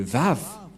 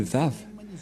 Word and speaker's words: Vav: J'espère que vous voyez bien maintenant que la prononciation de Vav, c'est V. Voilà le Vav. Le phonème de ceci, lorsque on prononce avec votre bouche et votre langue, c'est V d'après Wikipédia. C'est-à-dire, personne ne peut contester le Vav, c'est bien un V, la bonne prononciation.